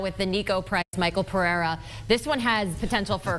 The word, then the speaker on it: Pereira: But the real storyline here surrounds Pereira, Pineda, if you want to pronounce it correctly, the native of Brazil.